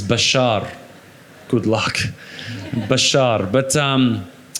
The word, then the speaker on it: Bachar: have you you've had been called Basha yeah well the actual the the correct way of pronouncing it is Bashar good luck Bashar but